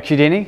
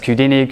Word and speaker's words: Qudini: And our website's on GitHub, just Qudini, Q-U-D-I-N-I. It rhymes with Houdini because you escaped the Q.